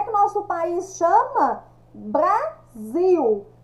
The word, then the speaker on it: Brasil: que nosso país chama Brasil eu escrevo com s e a pronúncia sai com Z letras e antônimo de